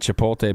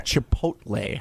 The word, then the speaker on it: Chipotle: by Tucker craft and chipot Ben can you not say Chipotle Chipotle Chipotle why are we giving chipot like what are we doing it's Chipotle you're a Chipotle thanks for saying it right good one the 11:00